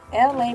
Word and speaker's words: Elay: I am LA, pronounced like LA like the city.